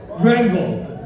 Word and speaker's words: Granville: Granville.